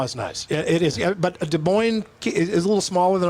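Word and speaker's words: Des Moines: West De Mo and De Moine both times you remembered. It's rare for you that the S is silent.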